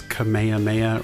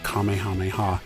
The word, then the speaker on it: Kamehameha: Some have pronounced it as Kamehameha or Kamehameha, and others have said Kamehameha. Apparently that is the more correct way to say it.